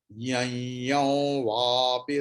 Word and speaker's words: यं वापि: Please pay attention to the pronunciation. Yam vapi. Why? Because first yam, there is afterwards ya is there. So anuswara pronunciation will be ya, like yain. Then on the second ya there is anuswara, and after that va is there, vapi. So anuswara will be wow.